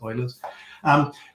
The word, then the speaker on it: Euler: definition of beauty euler's some people also pronounce the oilers but i think that's how it's correctly pronounced oilers the other cool thing